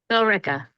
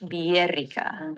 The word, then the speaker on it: Billerica: Is the double L pronounced like a Y, like in Spanish? Billerica. How else could you possibly pronounce this?